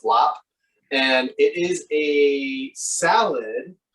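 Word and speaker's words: larb: as well it's called lap it's spelled l-a-a-b or l-a-a-r-b often but it's pronounced lap and it is a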